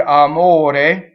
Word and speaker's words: amore: So in the word amore, O is the accented syllable. That's the one we worry about. And in this case, it happens to be closed.